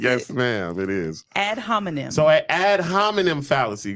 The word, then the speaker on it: ad hominem: Ad hominem. Is that how you pronounce Yes, it? ma'am, it is. Ad hominem.